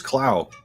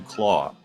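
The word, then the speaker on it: Klaue: yeah uh ulysses cloud i keep saying cloud they say claw um but it reads to me like clow i don't know yeah i mean it's pronounced claw because of you know he's got the arm thing um first appeared in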